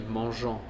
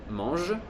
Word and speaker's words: mangent: Non si dice mes amis mangeant une glace, ma si dice mes amis mangent une glace.